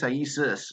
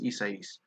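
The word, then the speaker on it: Isaias: i is that right i keep hearing isis and it's not right it's isais bregman bryant seeger beauty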